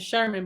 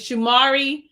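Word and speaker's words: Shamier: that ain't his name i want to say his name is sherman but it's not it's shimari anderson and he plays in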